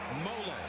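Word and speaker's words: Tuimoloau: who JT to him it's mola like Rollo folks that's how they tell us to pronounce it well he's been playing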